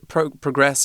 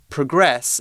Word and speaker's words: progress: If we progress, if we move forward, it's the verb. Then it's the verb, and we have the emphasis on the second half of the word.